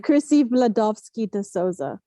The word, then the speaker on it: Chrisy Vladovski De Souza: Chrisy Vladovski De Souza.